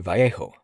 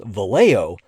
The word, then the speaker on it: Vallejo: It was named for Mariano Guadalupe Vjo, a California who served in the California territorial legislature and was a proponent of statehood.